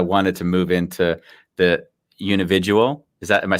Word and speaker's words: Unividual: segue, because I wanted to move into the Unividual. Am I saying it right now? That's it. Simple as that. Unividual.